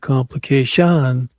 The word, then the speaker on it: complication: Complication. Third syllable. Not the fourth syllable.